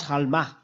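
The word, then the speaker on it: עלמה: see the meaning ofma this is the way to pronounce halma the halma is is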